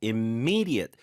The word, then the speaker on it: immediate: 스트레스가 강조의 의미도 있고 우리가 단어의 강세가 어디냐라고 할 때 immediate 그런 단어는 이음절에 스트레스가 있다고 하잖아요. Yeah, the stress is on the second syllable.